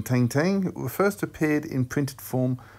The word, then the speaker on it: Tintin: Tintin, or to give him his French pronunciation, Tintin, first appeared in printed form on the 10th of January 1929, where he went on to have his first landmark adventure.